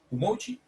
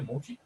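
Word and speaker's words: umoci: permite interactuar con contenedores, Umochi, sí, yo creo que así se pronuncia Umochi, que es un comando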